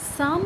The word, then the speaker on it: Psalm: है यह पीछे अटेंप्ट इसको हम पढ़ते किस तरीके से हैं साफ इसका जो प्रनंसीएशन है वह इस सांप इसमें छुपी अब क्या रहता है साइलेंट रहता है तो शाम का मीनिंग